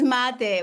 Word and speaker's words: mate: It's mate. We call it mate. Mate. Yeah. Okay, I'm not too far off. I just pronounce it really poorly.